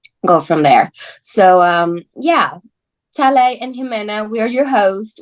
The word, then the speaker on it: Talei: When you see it written on paper, it's spelled Talei, but I've had that really throws up some interesting pronunciations. So I've had yeah. Talai, Talei. So it's I'm at the point in my life I answer to almost anything starting with T.